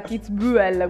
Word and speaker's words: Kitzbühel: anche un po mai la ue la kitzbühel quella proprio tedesca no esatto quello finito